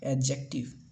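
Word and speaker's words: adjective: उसके बाद फिर एडजेक्टिव नहीं पढ़ेंगे, इसे पढ़ेंगे एडजेक्टिव। जो ए और डी के बीच में जब भी डी आएगा दोस्तों, तो ये एक हमेशा क्या होगा, साइलेंट होगा, ठीक है।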